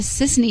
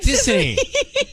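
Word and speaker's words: Sisany: Is it Tiffany? No, it's Sissany.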